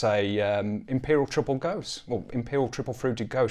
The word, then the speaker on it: Gose: It's pronounced Gose, so there's an at the end to be a craft kind of guy.